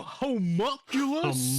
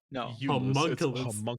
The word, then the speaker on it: homunculus: You homunculus. Homunculus. No, not homunulus. Homunulus. I had a friend who pronounced it that way.